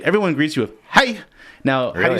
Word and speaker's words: hej: so if you say everyone greets you with hi now really spell hej hej really yes what